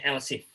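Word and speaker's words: ELSIF: Jadi kalau else if itu kalau di PLSK-nya Oracle itu E-nya yang kedua dihilangi ya. Jadi bacanya else if.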